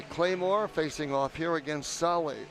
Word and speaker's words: Sahle: So it'll be Claymore facing off here against Sahle. S-A-H-L-E is how you say it, but it doesn't look that way.